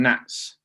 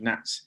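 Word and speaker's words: gnats: and we call them nats it says spelt with a silent g g n a t nats yeah yeah um and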